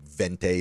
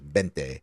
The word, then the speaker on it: vente: And it's, remember, the V's are kind of pronounced like bees. Like Yeah. like vente is bente.